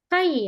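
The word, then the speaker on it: 貝: Oke, ini dibacanya Kai ya. Kalau sendirian ya dibacanya Kai aja dia.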